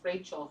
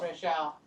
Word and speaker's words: Rachelle: you see um she it's pronounced rachel her name where where where where are we back up oh it's okay however you pronounce my name my real name is rachelle rochelle rochelle what a beautiful